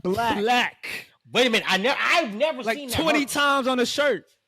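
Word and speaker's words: 6lack: His merch literally say 6 lakh pronounced black.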